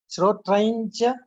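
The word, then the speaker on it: श्रोत्रं च: should be pronounced as Srotrancha.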